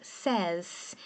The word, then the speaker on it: says: Quando você põe o S, a pronúncia muda, fica says.